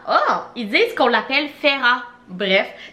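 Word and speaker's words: Feyre: il disent qu'on l'appelle ferra bref ça ça s'écrit F e y r dans mon tête c'est fire mais il disent qu'on l'appelle ferra on va l'appeler ferra bref ferra est donc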